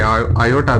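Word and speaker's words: aorta: so largest artery is आओटा या जिसे आयोटा भी सुनने में मतलब आप जब कहते हैं इसे प्रोनाउंसिएशन आयोटा आती है या आओटा सो लार्जेस्ट आर्टरी आओटा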